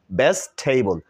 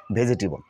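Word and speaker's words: vegetable: টাকে সাইলেন্ট করে দেই এই ই টাকে তাহলে উচ্চারণটা কি হয় বেস্ট টেবল বেস্ট টেবল this is right pronunciation of ভেজিটেবল নট ভেজিটেবল আজকে থেকে আমরা কি বলবো বেস্ট টেবল বেস্ট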